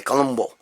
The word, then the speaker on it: Columbu: end with you his real name is Franco Columbu what do you at the end okay that doesn't mean it's you know everybody thinks it's Columbo but it is it's pronounced that way Columbo okay in Italian here's the deal this guy